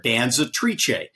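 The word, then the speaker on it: Danzatrice: named after the Italian word for female dancer Danza triche that's the official correct pronunciation of the mayor Danza triche so Mandy Pope I called her this morning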